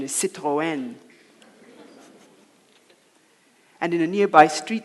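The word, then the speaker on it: Citroën: see the neighbor dad driving in in his Citroen as we called it apparently the correct pronunciation is Citroen and in a nearby street the dogs would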